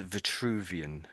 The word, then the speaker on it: Vitruvian: So what I said was this is Vituvian. Vuvian. A vituvian. Vituvian. Yeah, that's pretty good. Yes. So there's two V's and it makes it slightly tricky, I guess.